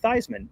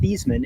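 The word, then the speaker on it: Theismann: Uh, Troy B says, "Fun fact, Heisman rhymes with Thyman." That's actually was not true until a Notre Dame sid when Joe Thyman was there. His last name was pronounced Theman and then they he convinced Thyman Theman to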